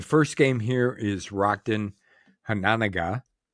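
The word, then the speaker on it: Hononegah: I think that's how you say it, right? Yep. That's how I've always said it. I've heard people say Hanenega, too. Hanenega. Okay. But I've always said Hananaga.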